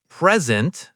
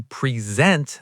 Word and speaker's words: present: If I say I got a present, stress on the first syllable, it's a noun, a gift, right? But if I say, I want to present this idea, now it's a verb.